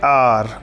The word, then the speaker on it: hour: He will take N आर, HOUR, कभी कभी कुछ बच्चों को मिसकंसेप्शन होता है कि HOUR तो हा से स्टार्ट होता है, लेकिन नहीं, इसका प्रोनाउंसिएशन आ से आता है।